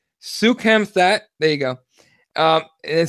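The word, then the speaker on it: Soukhamthath: Sukhamthat.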